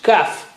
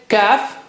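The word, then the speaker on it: كاف: How do you say kaf? It's just like K of English. Touch the inner part of the tongue to the roof of the mouth right at the back.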